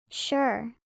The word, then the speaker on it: sure: Note: the S has the sh, sound when combined with URE. Sure, ensure, assure.